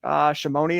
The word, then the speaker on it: Shimoni: So you were in a small fishing village, Shimoni. Is that how you pronounce it?